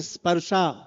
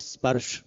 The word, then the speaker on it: Sparsh: the ultimate goal of this whole spa or rather I should call it spur. We are used to pronouncing Hindi words in English way. So spur becomes sparsha.